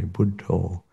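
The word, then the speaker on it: Buddho: quite neatly um because they pronounce the word Buddha in a slightly different way buddo and so on the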